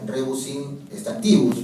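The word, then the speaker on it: rebus sic stantibus: Entonces ahí también se aplica la regla rebus in stantibus, ¿no? La regla de rebus in stantibus, que se debería pronunciar rebus in stantibus, pero como el latín y los romanos no utilizaban las esdrújulas, se utiliza de esa manera, ¿no?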